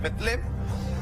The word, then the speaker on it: Belén: San Mateo, capítulo 2, versículo del 1 al 3 dice: cuando Jesús nació en Belén, cuyo en realidad pronunciación es Betlem, de Judea, en días